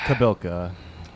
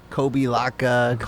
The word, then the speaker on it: Kobylka: better than any substitution how do they usually mispronounce it kobe laka kobe bryant did